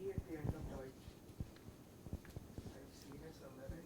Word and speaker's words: Deutsch: What is the sound of this? Oi. Deutsch.